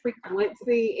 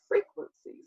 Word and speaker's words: Freakwincey: beginning of the show i said freak blitzy and that was not correct so i do apologize that's why i wanted to make sure that i uh was pronouncing it right it's a simple mistake but it's frequency so i really like how